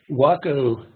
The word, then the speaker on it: Waco: Waco, W-A-C-O in this case, is pronounced Waco, and it's an ancient war cry, Waco, you